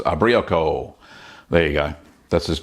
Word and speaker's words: Ubriaco: Brie are our echo I think I say you're pronounced abrió Kol there you go that's